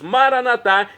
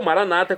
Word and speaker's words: Maranatá: E agora eu clamo do aramaico dialeto de Jesus, Maranatá, como dizemos nóss católicos, ou maranata, como dizem nossos irmãos separados, das comunidades evangélicas ou protestante.